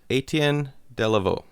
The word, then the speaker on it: Etienne Delavaux: And one, he told me how to pronounce his name. So, Etienne Delavaux.